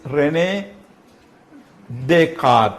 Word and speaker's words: René Descartes: René Descartes, this word is René Descartes, it's a French word, so this is silent there. René Descartes was a rationalist in somewhat different sense.